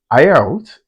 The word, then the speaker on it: IELTS: Okay, and then IELTS is pronounced as IELTS.